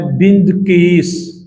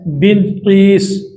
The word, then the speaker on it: بندقیس: جس کا نام ہے بندقیس۔ جس طرح بلقیس لفظ ہے نا، تو اسی طرح ہے بندقیس۔ یہ حضرت لقمان رضی